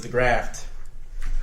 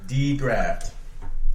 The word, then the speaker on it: DeGraft: My name is DeGraft. I'll say it one more time because I'm used to it. DeGraft. It's spelled just the way it sounds.